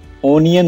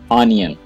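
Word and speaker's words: onion: इसे ओनियन नहीं पढ़िएगा, ये वर्ड है ऑनियन।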